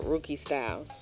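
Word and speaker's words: Rukey Styles: Well, all of my handles are Rookie Styles, and that's spelled RUKEYSTYLES.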